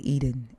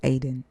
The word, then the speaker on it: Eden: That is the correct way to say Eden. It's Aden. America, westernized, says the Garden of Eden, but it's actually Aden. Aden.